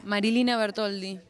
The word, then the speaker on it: Marilina Bertoldi: gutiérrez y nos encontramos con marilyn como se pronuncia marilina bertoldi así entonces es sencillo medio italiano medio por